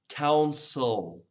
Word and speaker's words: counsel: Counsel, counsel, counselor.